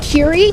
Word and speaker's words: Kerry: That's Keery Yamaguchi. That's Yamaguchi. We will need to check pronunciation on that.